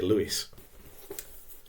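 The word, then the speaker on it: Lewes: called G H Lewis and again you might pronounce it l DAV is l e Wes but I'm going to say Lewis now Lewis was a Critic he was one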